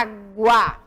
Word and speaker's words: água: se identificar a água aonde eu pronuncio com mais intensidade eu falo água e aqui ó eu falo aguardar ou falo a água aonde é a minha sílaba tônica é onde eu pronunciei com mais intensidade imagem demorado a água